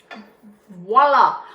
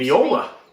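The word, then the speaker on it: voilà: In case you're wondering, it seems Viola. it seems to be a thing that voila, V-O-I, sorry, V-O-I, not V-I-O, Viola. which would be viola, V-O-I, voila.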